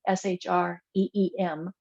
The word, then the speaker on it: Shreem: many there's several of them and this one shreem s-h-r-e-e-m as the way it's pronounced I'm not sure if that's how it's spelled but that is the way it is pronounced shreem um does resonate with me I've used it